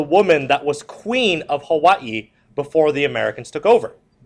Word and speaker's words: Hawaii: okay one McKinley next ax is to Annex Hawaii now you guys just call it Hawaii but it's actually pronounced Hawaii Hawaii Hawaii that's why it has